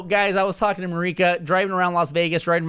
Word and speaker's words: Mireika: like crazy like yo my name is Marika okay my Starbucks cup this morning said like Monica Monica rant or something